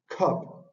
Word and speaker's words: cup: qué podemos ver en la palabra Cup que tiene el fonema de la k tiene que es aspirada por ir al inicio de la palabra y tiene esta este fonema que es la a abierta que es c y